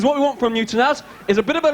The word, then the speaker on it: Tanaz: Over here we have Tanaz. Is that how you say it? Yes. Tanaz?